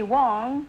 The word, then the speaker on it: Wang: Is that how you pronounce it, Wang? Well, the Chinese call me Wong. Wong, and the Koreans call me Huang, and the Americans call me Huang, but my name is Huang.